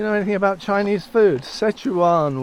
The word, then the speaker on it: Sichuan: Sichuan, we pronounce it as.